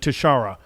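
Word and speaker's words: Tishaura: I believe she pronounces it Tashara.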